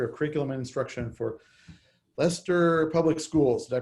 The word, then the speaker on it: Leicester: joseph the director of curriculum and instruction for leicester public schools did i pronounce it right uh matt uh yes it's actually pronounced lyouster can you try that one sure no i'm laos you got it right lester is how you do it that's what i